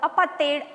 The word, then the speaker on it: apartheid: And in the year 1948, they erected a system called apartheid, or apartheid as the Africans pronounce it.